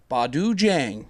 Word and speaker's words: Badu Jang: Badu needs no D in the pronunciation of his last name. It's a simple Jang. Badu Jang.